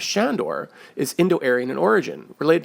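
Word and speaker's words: Sándor: around another example is the Hungarian name Shandor pronounced with an SH not Sandor linguist were in such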